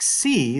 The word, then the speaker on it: xi: So anyway, that's the letter Xi, capital.